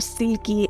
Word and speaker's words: selkie: Selkie se pronuncia silky en algunas regiones del Mar del Norte, que suena como sedoso en inglés.